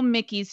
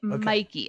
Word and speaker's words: Mikey: the way you know mickey's checks were clearing her creative mikey minden yes oh my god oh i'm sorry i don't know why i pronounce to mickey mikey of course but you know his